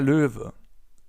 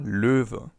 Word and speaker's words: Löwe: As you can see, this O letter with the 2 dots on top is pronounced Ö. Ö. You can find more about that in our video on the Umlaute, Ä, Ö and Ü. So for now, it's just important that the animal is pronounced Löwe. Up next, we have the snake, die Schlange.